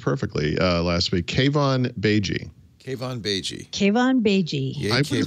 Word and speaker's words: Keivan Beigi: He says Mary Jo pronounced perfectly last week. Keivan Beigi.